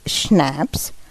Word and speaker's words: schnapps: that was the end of the matter schnapps pronounced schnapps a german drink made from green cello a